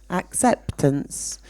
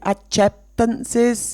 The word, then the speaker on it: acceptance: because there was no acceptance okay pay attention to the pronunciation I hear around the class I hear a few adjectances it's ax yeah acceptance acceptance okay so um thinking